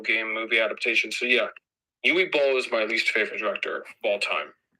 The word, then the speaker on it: Uwe Boll: His name is pronounced Uwe Boll.